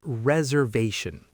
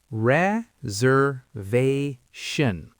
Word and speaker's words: reservation: First, let's say reservation. Break it down with me. Reservation. The stress is on the third syllable.